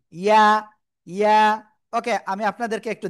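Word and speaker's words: ياء: অনেকে বলবেন কি ইয়া, না, ইয়া হবে না, এটা হবে কি ইয়া, ইয়া।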